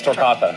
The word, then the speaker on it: Torcatha: Dave McCauley is the founder of Torcatha BBQ, and he's joining us in studio this morning with more. Am I saying it right? Yes, Torcatha.